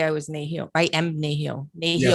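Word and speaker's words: nêhiyaw: Nehio.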